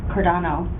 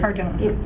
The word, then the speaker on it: Cardona: Miguel Cardano was Cardona Cardona. Sorry. Number one. Fix that pronounce his name correct.